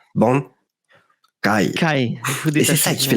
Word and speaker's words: Bankai: Pour bien dire Bankai, le truc le plus important quand tu dis Bankai, c'est le petit silence entre les 2 syllabes. Il ne faut jamais dire Bankai, il faut bien dire Bankai.